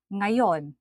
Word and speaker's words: ngayon: The pronunciation of this consonant can be very difficult for foreigners, particularly when it appears on the beginning of the word, like nga, ngayon, today.